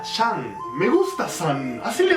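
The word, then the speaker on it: 山: ¿San? ¿En chino le dicen san a las montañas? No, se pronuncia Shan.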